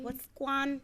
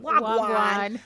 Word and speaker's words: Wagwan: What's Guan? It's not what's Guan. Wagwan. Oh my God, I just butchered that.